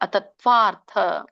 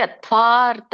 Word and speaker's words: ಅತತ್ವಾರ್ಥ: ಸಂಯುಕ್ತ ಅಕ್ಷರ ಅಂತ ಕರೀತಾರೆ ಅತತ್ವಾರ್ಥ ಅತತ್ವಾರ್ಥ ರ ಇದೆ ದೊಡ್ಡ ಮಹಾಪ್ರಾಣ ಇದೆ ಮತ್ತೆ ಜೊತೆಗೆ ಅದಕ್ಕೆ ಅರ್ಕಾವಳಿ ಇದೆ ರೋ ಹಾಗಾಗಿ ಅತ್ವಾರ್ಥ ಅತ್ವಾರ್ಥ ಅತ್ವಾರ್ಥ ವದಲ್ಪಂ ಅಂತ ಹೇಳಿಬೇಡಿ ನಾನು ನಿಮಗೆ ಹೇಳಲಿಕ್ಕೆ ಆಸರ ಹೇಳಿದೆ